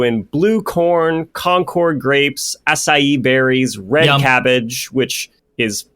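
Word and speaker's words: açaí: They're also in blue corn, concord grapes, acai berries, red cabbage, which is actually really purple when you look at it, right? Thanks for saying acai correctly.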